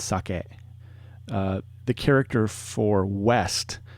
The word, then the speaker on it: sake: character for alcohol sake it's not saki with an i it's sake uh the character for